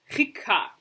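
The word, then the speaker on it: חיכה: However, if you mispronounce the chet and it comes out like a hey, you have the word hika, which means to strike, like a blow.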